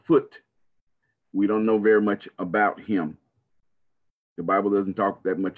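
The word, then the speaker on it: Phut: Sometimes it's spelled P-H-U-T, a foot.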